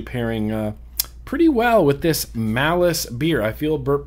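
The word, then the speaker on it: Malus: Malice.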